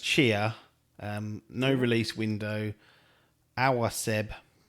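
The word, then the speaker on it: Tchia: I think it's pronounced Chia.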